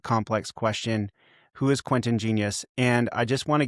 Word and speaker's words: Genuis: growing up in Toronto, the pronunciation sort of migrated to being Genuis, rhymes with tennis.